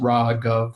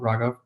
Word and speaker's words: Raghav: It's pronounced Raghav, like government, Raghav.